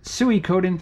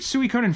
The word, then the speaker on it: Suikoden: At least that's how I pronounce it. If you play the game Metal Gear Solid and you have a save file from the first or second game, Psycho Mantis will say, "Oh, so you like Suikoden." And that's how the voice actor pronounces it, so that's how I say it.